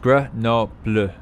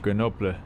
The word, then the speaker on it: Grenoble: Commonly pronounced Grenoble in French. Grenoble. It needs to be the stereotypical French R from the back of the throat.